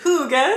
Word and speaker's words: hygge: and this is called the little book of hygge or hygge i recently learned that you pronounce it hygge so now i keep saying it like that